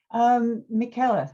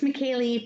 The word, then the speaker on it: Michaela: Michaela, and I hope I pronounced your name right. It's Michaeli, but don't worry about it.